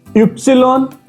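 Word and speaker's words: Ypsilon: इ्स इप्सिलॉन सेट। इ्स एक्स को हम इ्स बोलेंगे। इप्सिलॉन वाई को इप्सिलॉन बोलेंगे और सेट।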